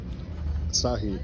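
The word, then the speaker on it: Asahi: Nick's favorite beer of all time is Asai." Is that how you say it? Asah.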